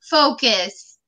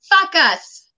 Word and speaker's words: focus: If you say focus and you mispronounce the O, it comes out to fuck us.